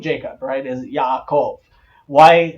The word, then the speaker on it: Yaakov: name Jacob Wright is Yaakov why why did it turn into a J because the first Bibles that were translated were translated into the German and the letter J in the German is is said like